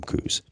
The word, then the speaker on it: Coues: Or Coues Deer is actually the correct pronunciation for it, but anybody who's from Arizona calls them Coues.